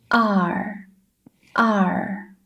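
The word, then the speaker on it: 二: pronounce the fourth tongue you can think about the English word ouch right ow this part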